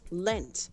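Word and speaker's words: leant: yes no it's not if it's with the t at the end it's supposed to pronounce lent they lent back against the wall but i'm just gonna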